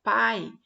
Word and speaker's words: pai: Por exemplo, pai. A vogal é o A e a semivogal o I, porque na hora que você for pronunciar pai, o pá ele está mais destacado, ele está mais forte.